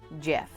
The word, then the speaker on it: Gef: Mongoose who called himself Jeff my name is Jeff yes my name is Jeff my name is Jeff but it's spelled different GF because the small secluded